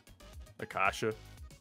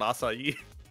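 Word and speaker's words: açaí: stop it it really bothers me how Steve pronounces AAA Akasha yeah I don't like that he's a bad person for that but Jerry pronounced it assai oh no that was my favorite line from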